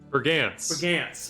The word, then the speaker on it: Brigance: last name for me bergance for like I'm cold gants rhymes with pants amazing see I don't